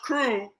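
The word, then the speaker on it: krewe: Now I say right there, a crew, pronounced crew, is an organization that puts on a parade or ball for the carnival season.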